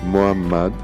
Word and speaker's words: Muhammad: Le nom Muhammad se prononce Muhammad, mais en ponctuant la lettre H comme cela, nous aurons distingué la lettre Ha de la lettre Ha. Muhammad sera alors bien prononcé.